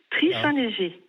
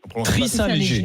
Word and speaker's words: Trith-Saint-Léger: Alors donnez-nous la bonne prononciation de votre commune, qu'on évite les impairs, Donc, madame. Tri-Saint-Léger. Tri-Saint-Léger. D'accord. Tri-Saint-Léger, oui, c'est ça, Alors, exactement.